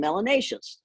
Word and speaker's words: melanaceous: Those who have a fair amount of melanin should be called melanaceous, which rhymes with gracious and efficacious.